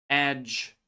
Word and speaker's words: edge: Bridge, ridge, edge, ledge, hedge. As you can see, we pronounce J sound, but there is no D at all, okay?